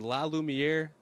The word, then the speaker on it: La Lumiere: So is it La Lumiere?